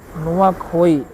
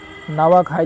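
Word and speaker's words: नुआखाई: आगे बात करें तो नुआ नुआखोई नुआ खाई त्यौहार किससे संबंधित है? कि नवा खाई लिखा है तो यहां पे नुआ खाई होता है तो कुछ भी आप प्रोनाउंस कर सकते हैं इनमें से ठीक है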